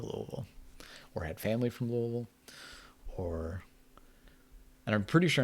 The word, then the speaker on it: Louisville: or had family from louisville or and i'm pretty sure i'm pronouncing it right where you kind of just like you say la and then a bunch of vowels and then vol the city streets were